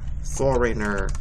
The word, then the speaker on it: foreigner: there when a Foreigner Foreigner okay do you see that word for rain it's like a long a sound even though it's spelled e and I question number five has